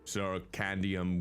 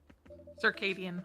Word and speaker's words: circadian: The truth is, I'm not sure why our greetings have a s circandium rhythm. Circadian. Circadian. See, this is why you don't trust me with pronunciations.